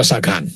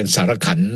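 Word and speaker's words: Sarkhan: ออก มา นะ ฮะ แต่ ที่ จริง ต้อง ออก เสียง ว่า ซาคาน นะ ครับ เพราะ อัคลี อเมริกัน เนี่ย เป็น ว เป็น เรื่อง ที่ เกี่ยว กับ เอ่อ เหตุ ที่ เกิด ขึ้น ใน ประเทศ สมมติ ชื่อ ซาคาน อัน นี้ คน ไทย ก็ เลย จะ ออก เสียง เป็น สารขันธ์ สารขันธ์ เอ่อ แต่ ว่า ถ้า จะ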